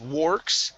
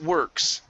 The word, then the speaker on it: works: next up is fireworks now the or here in works is going to be an er sound instead of warx it's works okay fireworks fireworks okay